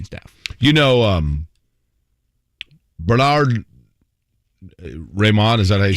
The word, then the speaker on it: Raimann: you know um bernard raymond is that he said so i i texted matt taylor last night for confirmation ryman okay that was why on the phonetic with that first syllable so bernard ryman